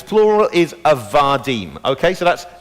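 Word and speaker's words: עבדים: Really, it's called a rough breathing, or an ayin before that, and its plural is avadim. Okay, so that's eved, avadim.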